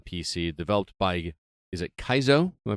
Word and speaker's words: Kaizo: Developed by, is it Kaizo? Am I pronouncing that correctly?